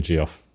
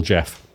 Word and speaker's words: Geoff: is a great name Americans call me GIF so basically call GI too a simple Jeff simple Jeff on the